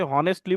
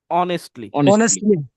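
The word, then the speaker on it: honestly: বলে দিছে এটা একচুয়াল যেমন এটাকে আমরা অনেকেই হনেস্টলি বলি না এইচ দিয়ে যেহেতু শুরু এটা সঠিক উচ্চারণ এটা সঠিক উচ্চারণ হচ্ছে অনেস্টলি ঠিক আছে তাহলে সঠিক উচ্চারণ দেখবে ফ্লুয়েন্সি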